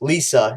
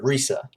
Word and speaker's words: LiSA: name is the same it's literally just saying her name but with l and saying it in a western way so it's just lisa instead of risa so that's how she